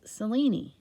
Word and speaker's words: Selene: And in Greek, it's pronounced Selene.